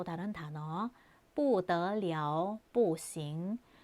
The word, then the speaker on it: 不得了: 더를 사용하는 경우에 또 다른 단어 不得了, 不行. 不得了에서 여기 발음이 了인 거 주의해 주세요.